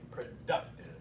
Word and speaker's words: productive: You're stressing the right syllable. 1, 2, 3. Productive.